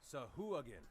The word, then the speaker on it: Sahuagin: Sahuagin. A Sahuagin, who is wrapped up in chains. He looks rather beaten. Now, for Deluge, a Sahuagin is not necessarily a good thing to see.